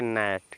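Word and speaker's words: gnat: हैं यानी कि लिखा जी एन ए टी तो जी साइलेंट हो जाएगा तो इसको पढ़ेंगे नेट क्या पढ़ेंगे बच्चों नेट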